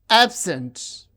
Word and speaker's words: absent: We can see the stress is on the first syllable when the word is used as noun or adjective, and the stress is on the second syllable when the word functions as a verb.